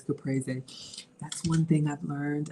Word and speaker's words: caprese: Or y'all know we say caprese, but it's caprese.